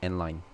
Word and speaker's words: endl: n line so this whole thing is actually pronounced as n line yeah so if i was to run it